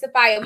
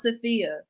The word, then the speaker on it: Safiya: so it's actually pronounced sophia so i was like it's okay you're fine so it's like sofia but with the a so sofia sophia when